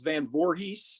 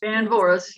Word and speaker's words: Van Voorhees: okay, Karen Ribpath, you remember Sharon, that was Van Voorhees? Van Voris, yep. Van Yeah. Voorhees? Okay, Guys, you mean I've mispronounced your name all these years, Yep.